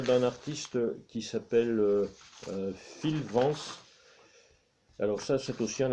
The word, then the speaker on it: Vance: Donc cet artiste s'appelle Phil Vance, comme ça se prononce, V-A-N-C-E.